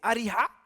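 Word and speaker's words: أريحا: Alors on dit Jéricho en français, mais en arabe, pardonnez-moi l'expression ou la prononciation, c'est Ariha, à quelques kilomètres du Jourdain.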